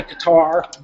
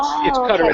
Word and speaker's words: Qatar: It's many Americans say Qatar, but it's Qatar.